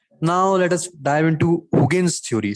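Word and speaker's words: Huygens: let us dive into hughen's theory see it's pronounced as hogan's somewhat proudest hygienes he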